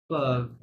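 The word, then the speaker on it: peuvent: vous pouvez, il, elle, কার্ভ, হ্যাঁ ওয়েনতে কিন্তু silent, ইলেল কার্ভ এমন সাউন্ড করতে পারবে।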